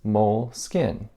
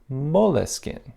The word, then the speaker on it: Moleskine: So the English pronunciation is Moleskine. But then, you know, it was moved to France, and over there an E was added, and the French pronunciation is Moleskine.